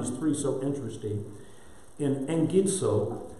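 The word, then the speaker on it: ἐγγίζω: In engidso, whenever you have a double gamma, double G, it's always like an E-N-G. It's pronounced eng.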